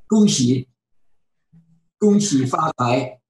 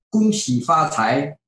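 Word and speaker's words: 恭喜发财: Gongqi Ni, and I'm not sure how to pronounce this last word. I don't know Chinese phonics, right? What is it? 恭喜发财. Yeah. Okay, say it one more time. 恭喜发财.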